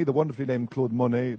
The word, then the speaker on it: Claude Monney: so first of all Claude Monet the wonderfully named Claude Monet not spelled the same but pronounced the same uh he's going to